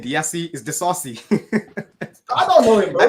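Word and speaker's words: Disasi: Yeah, he just started off and he realized he didn't know how to say his name and he just went Desai. It's Axel Disassi.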